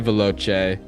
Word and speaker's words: veloce: Vai veloce is how I'm choosing to pronounce that CE at the end of that word. It is how it's supposed to be said.